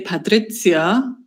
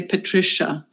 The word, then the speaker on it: Patricia: to pronounce um so in German we would say patrizia which is really awkward and in English people say Patricia okay so I prepared